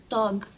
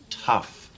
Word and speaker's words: tough: Some words are so tug. Tug? Oh, remember I told you the GH sometimes sounds like an F. It's tough, like rough or laugh.